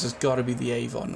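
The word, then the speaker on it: afon: A-F-O-N, it's pronounced Avon.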